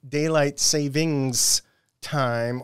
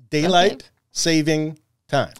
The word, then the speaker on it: daylight saving time: a long time ago do not say daylight savings time or you will get lots of emails and calls so I am making sure to what's the proper word here enunciate daylight saving time okay okay anyhow the